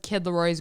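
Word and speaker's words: Kid Laroi: You know who's beautiful is Kid Leroy's girlfriend.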